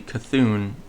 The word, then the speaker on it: C'Thun: Like, I never heard anyone say C'thun, and I always assumed that the normal pronunciation was C'thun. And then, when Hearthstone released its Whispers of the Old Gods quest, uh or not quest, expansion, I was like, oh, it's actually C'thun, not C'thun.